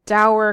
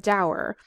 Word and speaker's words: dour: this is the word sour rhymes with dour a sour person is